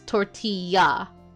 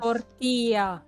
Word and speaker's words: tortilla: L's are supposed to sound like a Y. So it's tortilla de patatas. tortilla.